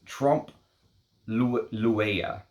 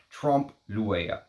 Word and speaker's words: trompe l'oeil: And the French term for this is, for this fragrance that was inspired by, apparently, is trompe l'oeil, is how I'm going to try to pronounce that, okay?